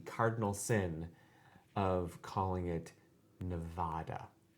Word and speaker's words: Nevada: Angela does the cardinal sin of calling it Nevada. She does. She does. I understand. She's British. She has a certain way of pronouncing vowels. Nevada.